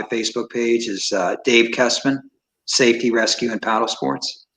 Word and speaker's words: Kessman: people uh what's announced about dave kestman yeah spell that out for us that yeah so it's dave castleman my last name is kessman it's k k-e-s-s-m-a-n-n if you google it that